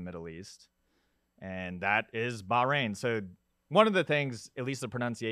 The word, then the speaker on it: Bahrain: that keeps coming up everyone says it's baja rain like the baja men but ba like or bach reign so okay hey how's